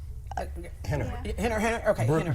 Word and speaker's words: Rener: Yeah, is that Rener? Henner. Henner. Okay, Henner. Brazilian, so, Okay. so all the R's. they Or pronounce H.